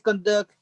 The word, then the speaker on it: conduct: The Braves conduct. Conduct. Yes, you're going to put conduct. You're going to put the accent on the first syllable.